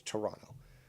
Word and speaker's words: Toronto: how it's pronounced that the t is silent at the end so it's toronto um maybe i can